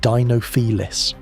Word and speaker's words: Dinofelis: Dinofelis, pronounced Dinofelis.